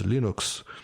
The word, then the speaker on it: Linux: is lenis tals and the proper pronunciation of Linux is Linux and I was like